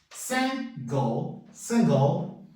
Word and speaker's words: single: Single, solteiro. Viram que entrou um schwa aqui e não fala esse E final.